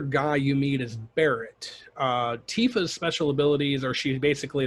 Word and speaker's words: Tifa: of avalanche would be Tifa Lockheart or TIF uh however you want to say her name I mean I went I went Tifa with it but yeah what and